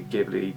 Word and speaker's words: Ghibli: They pronounce the Ghibli with a hard G. I say Ghibli, but you know, let's not split hairs.